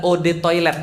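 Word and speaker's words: eau de toilette: Eau de toilete artinya adalah od toilet bacanya. Eau atau o itu artinya air toilet ya toilet.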